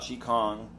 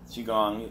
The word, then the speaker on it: Qi Gong: because the truth about chick Hong Qi Gong either way that you want to pronounce it is it's very simple